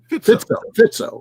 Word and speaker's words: Fico: That's all designed to put the squeeze on Orban and some of the Fico, I think is Fisco. I forget how you pronounce it. Fitzo, right? Yeah.